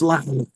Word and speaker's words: Lars: I said, is it Lars or is it Lars? And he says, it's Lars.